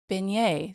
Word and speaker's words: beignet: they were in Louisiana because the beignet is spelled like beet yes baget baget and it's beignet so today's Louisiana word of the day is beignet it's not spelled like it sounds and it does not sound like it's spelled but nothing in Louisiana makes